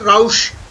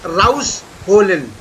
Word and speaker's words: rausholen: Winterjacke rausholen. Rausholen. There are two words again. It Ja, is not, raus- it is not rausholen, it is rausholen. Rausholen. No, not rausch. It is rausholen.